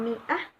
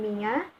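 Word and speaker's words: مائة: Hari ini ada alasannya, karena dalam tulisan ini, dalam tulisan mi'ah, ada perbedaan bacaan. Imam Asim yang biasa kita baca sehari-hari, membacanya dengan mi'ah secara jelas. Untuk menggabungkan dua cara baca antara mi'ah dan miyah, para sahabat kala itu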